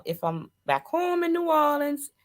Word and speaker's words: New Orleans: Don't nobody from New Orleans say New Orleans. It's New Orleans. They take their time to get all those syllables.